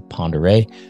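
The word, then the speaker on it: Pend Oreille: Lake spelled P-E-N-D, space O apostrophe R-E-I-L-L-E, which is a French word. Still pronounced the same, Ponderay.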